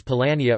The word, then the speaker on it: Polania: Some Jewish historians have recounted that the word Poland is pronounced as Polania or Poland in Hebrew, and is transliterated into Hebrew.